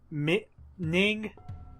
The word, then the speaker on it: Ning: Ning, I think that's how you pronounce his name.